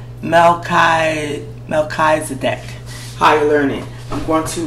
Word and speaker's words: Melchizedek: Okay, his name is pronounced Melchizedek. Melchizedek.